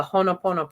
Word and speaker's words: Ho'oponopono: wonderful time for and I always say it wrong, so April can correct me, but the Ho'oponopono prayer. I mean, this is the time to use this. Did I say it right? No, of course not. No, you did not.